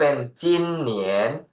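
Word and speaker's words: 今年: ครับ ถัด มา ครับ จีอิน จีน เสียง หนึ จิน เนอ เอียน เนียน สิง 2 เหนียน รวม กัน เป็น จิน เหนียน จิน ตัว เดียว แปล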